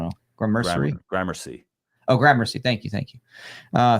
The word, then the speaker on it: Gramercy: do I don't know or Mercury Gramercy oh Gramercy thank you thank you uh thank you um it's terrible he assumed by someone claimed he installed the video camera in 1990.